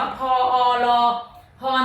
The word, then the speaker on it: พร: ใช่ มั้ย คะ ใช่ คำ ว่า พร น้อง ออก เสียง ว่า พอ รอ พร แต่ เวลา เขียน จริง ๆ เรา ไม่ มี สาระ ออ อยู่ ตรง กลาง นะ คะ เพราะ อะไร รู้ ไหม